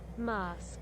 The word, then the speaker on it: Masque: The Half-Light Muskie? Mucky? Masque? Pronunciation. Mask. Oh, it's just mask. It's just pronounced mask. That's easy. That's easy to remember.